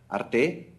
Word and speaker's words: Arte: by the National Finan Board of Canada and Arte is the right pronunciation.